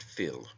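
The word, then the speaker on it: fil: taken from the Irish word Phil f i l pronounced Phil meaning blood it also signifies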